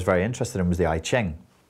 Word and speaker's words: I Ching: interested in was the i ching or that's not the in cantonese is pronounced yi king which is the chinese